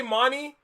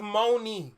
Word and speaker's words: Mooney: Oh, did I say money? Her name is Mooney.